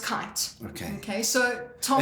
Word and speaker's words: Keight: So it's actually pronounced kite. Okay. Okay. So Tom. As in go and fly kite.